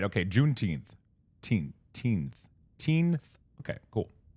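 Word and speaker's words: Juneteenth: Junth teenth.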